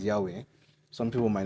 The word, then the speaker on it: Yahweh: You see, it's pronounced Yahweh, but it's written YHWH.